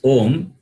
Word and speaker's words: Om: When you pronounce Om, it starts with opening of the mouth and ends with the closing of the mouth.